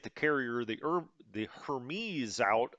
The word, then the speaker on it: Hermes: carrier the er the hermes out i guess it's pronounced hermes i've been told um but that was